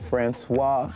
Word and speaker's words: Franceswa: my name is Franceswa, it is spelled Franceswa like France the country, then S-W-A.